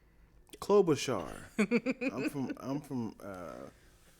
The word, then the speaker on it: Klobuchar: even say her name clover char did you put a v in it klobuchar i'm from i'm from